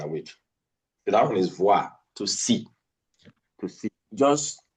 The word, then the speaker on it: voir: The other one is voir, to see. To see. Just to give you a little bit of contrast. B and what? V. B, V. Boire. That's occlusive. Voir. That's what? Fricative.